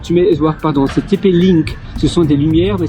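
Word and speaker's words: TP-Link: light TP donc tu mets voir pardon c'est TP link ce sont des lumières mais ça s'appelle link l i n k TP link donc tu tapes TP et puis link l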